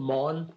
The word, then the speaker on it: Mawn: restaurant called it's called Mon it's a w-a huh um it's mon which is um The Way We spelled mon coincidentally is like John but I don't want